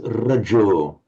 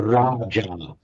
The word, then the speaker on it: rajo: one exception, I think, with this rajo. Raja. You're pronouncing as if it meant a king, as in the Raja. But this is Raja. Raja is a king. Raja is dust. So Rajo.